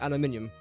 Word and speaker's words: aluminium: you can just use aluminium I think this is just or aluminum depending how you like to pronounce the word I prefer just